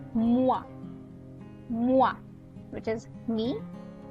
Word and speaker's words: moi: Okay, so whenever you see O and E together, you pronounce it as wa, right? So it's moi.